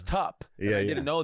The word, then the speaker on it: Tupperware: I just mispronounced the word Tupperware because I thought it was Tubber. Oh, that's so Like funny. a tub. That's so but good. it was tup.